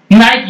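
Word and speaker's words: knight: एन आई जी एसटी नाइट योद्धा अब नाइट में पहला अक्षर साइलेंट है तो क्या आप यहां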